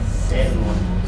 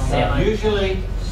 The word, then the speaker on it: salmon: most famous for its salmon. Salmon. Salmon. Usually the L in salmon as the fish is silent.